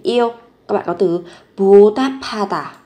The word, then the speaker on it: 보답하다: Các bạn có từ 보답하다, nối âm lên, phát âm giống với âm p. 보답하다, 보답하다, báo đáp.